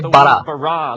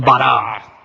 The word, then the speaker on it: bara: La palabra crear se dice bara. Repitan, bara.